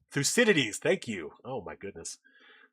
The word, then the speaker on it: Thucydides: I'm going to try to pronounce this. I'm going to butcher this Greek name. Thucydides? Thucydides? Thucydides, thank you.